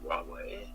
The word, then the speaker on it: Huawei: Now, if I know an executive at Huawei, how do you say it again? I'll tell you how it's pronounced.